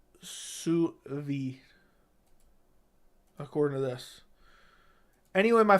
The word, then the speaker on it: sous vide: I like it's pronounced sour Z vide. No, it's not. It's sous vide.